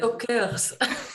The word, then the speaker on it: Talkers: Donc, écrit comme ça, comme en anglais, mais prononcé en français, ça fait avec le L, talker, talkers.